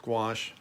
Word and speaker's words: gouache: It still felt pretty stupid, but so yes, it's pronounced gouache, but if you call it gouache, I won't make fun of you.